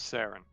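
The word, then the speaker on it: Cerra: don't know how to I spell it for you c e r r a an her name is sarin all right gotta well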